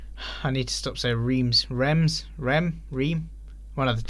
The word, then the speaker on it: Reims: finally lost a game reims Reims you pronounce that blahblah great i hadn't already I don't speak French Remz dreams raw Reims beat